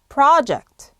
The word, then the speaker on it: project: project를 발음하실 때는 P-R-O를 pro라고 하시는 게 아니라요. 이런 발음이 나오셔야 됩니다. 그래서 project, 앞에 강세를 두고 액센트가 앞에 와야 됩니다.